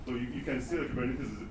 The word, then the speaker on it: Kubernetes: So the right way of saying Kubernetes is Kubernetes. Kubernetes. Yeah.